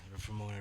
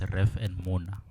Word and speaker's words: Reformona: Wait, I was pronouncing that name as Ref and Mona. Yeah, Reformona. Mona. No, negere Mona. Mona, As in- yeah. as in- Mona. Yeah, it's Mona, Reformona.